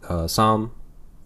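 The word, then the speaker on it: Sahm: I think I was first told Doug Som. Som is how you pronounce his name, right?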